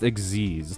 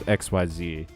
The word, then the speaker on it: Xyz: It's It's pronounced Exeiz, not XYZ.